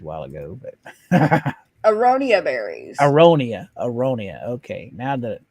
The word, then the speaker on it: aronia: I can't pronounce what you said a while ago, but Aronia berries.